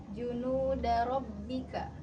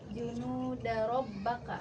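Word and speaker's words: جنود ربك: Harusnya dibacanya junudabbika. Tadi Ananda bacanya junudabbaka.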